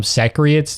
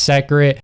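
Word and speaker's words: Seikret: I think it's secret.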